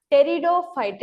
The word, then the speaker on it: pteridophyte: P silent. இதை நம்ம pteridophyte ன்னு pronounce பண்ணும். P silent, pteridophytes. Fourth one is gymnosperm and the last one is angiosperm.